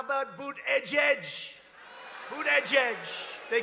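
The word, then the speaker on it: Buttigieg: you know why because nobody can pronounce his name nobody has any idea who Ned's it's they say say edge edge and he presides over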